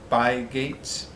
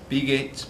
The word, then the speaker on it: Bygate: by martin by gate i think i'm pronouncing that right by gates be gates right no it's gotta be by gate so quick disclaimer i've